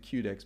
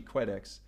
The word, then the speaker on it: Quedex: Previously, I was pronouncing it Qdex, but it's actually Quedex.